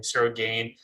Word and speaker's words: Ciryl Gane: kind of, that's how you say his name, Ciryl Gane, really did to Derek Lewis, it really questions like, is this the guy to be Francis Ngannou?